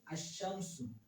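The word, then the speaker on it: الشمس: তাহলে সেটা হচ্ছে আশা হরফে শামসি যেমন কি আশশামসু আশশামসু আশশামসু এই যে এই জায়গার মধ্যে যেশিন আ লামটা উচ্চারণ হয় না।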